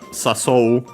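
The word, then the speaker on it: 誘う: But first we have a sasou. I check its accent, that I don't know, which means to invite in general. Okay, unaccented.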